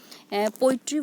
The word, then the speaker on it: poetry: Poetry word is divided into three syllables. Po, e, tree. So po is stressed and e and tree. These two syllables are unstressed.